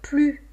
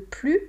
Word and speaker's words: plus: Donc, comment vous allez prononcer le « plus »,« plus » ici est très important, le sens change. « J'en veux plus », négation. « J'en veux plus », davantage.